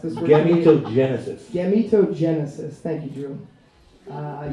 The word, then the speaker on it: gametogenesis: There's a recent development in a technology referred to as IVG, or in vitro gametogenesis. I actually listened to a YouTube video that pronounced this word. Gametogenesis.